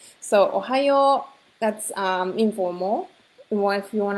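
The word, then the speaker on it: おはよう: You can just say ohayo, that's okay. It sounds like Ohio. You've probably heard this, but so ohayo, you can remember that, right? So ohayo, that's informal.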